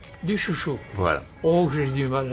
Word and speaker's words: Dussuchaud: alors rappelez-moi votre nom, alors comment on le prononce? Duchuchot. Duchuchot.